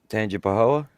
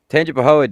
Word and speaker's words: Tangipahoa: No, because I don't want you to mispronounce the name of the town. I want you to get it right. Tangipahoa? Close. Tangipahoa deputies didn't know.